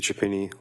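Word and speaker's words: Chiappini: My name is Chapini. Last name is spelled C H I A.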